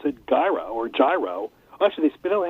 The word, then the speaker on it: gyro: is the word that people pronounce is gyro which is really gyro no key witness well both Greek and background we would pronounce a you know yeah with a very strong Greek accent I think but again you see the G and modern Greek doesn't have a hard G so it should be